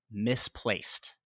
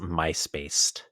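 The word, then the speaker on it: Mysplaced: can win a prize misplaced and that is spelled m-y-s-p-l-a-c-e-d isn't wanting to read it as myspaced yeah yeah is an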